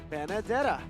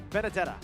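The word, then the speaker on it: Benedetta: It rhymes with banana. Bandana. Banadetta. Ah, close, close, close. Benadetta.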